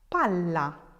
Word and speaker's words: palla: Pala with one L, palla with two L's. If you think about where your tongue hits inside of your mouth, it's a different position. Pala, palla. It stays longer with the double L, and that's where you